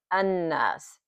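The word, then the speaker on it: الناس: read it as this lamb is not even pronounced. We going in cover those later on but for now we're focuses focus is on the so we we read it like an don't even pronounce the lamb an okay how we describe it is noon.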